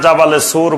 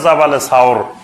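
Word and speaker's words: جبل ثور: সাওর পাহাড়ের এখন যেটা জাবালে সুর বলে, জাবালে নূর আর জাবালে সুর, এই জাবালে সুর বা এটা শুদ্ধ উচ্চারণ হলো জাবালে সাওর।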